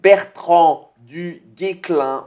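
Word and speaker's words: Bertrand du Guesclin: Donc, il va sortir avec un autre commandant qui est Bertrand du Guéclin. On ne prononce pas le S apparemment.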